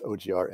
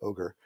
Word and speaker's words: OGR: than than google and people will variably pronounce it as ogr and ogre it may stand for